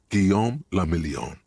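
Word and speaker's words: Guillaume Le Million: Gom lamelon. If it doesn't rhyme, you're not pronouncing it right.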